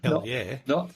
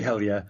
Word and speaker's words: Helou: Another of the colleagues of Tom Prince at Caltech, George Helou, I think is how you pronounce it. Helou. It could be hell yeah, not hello.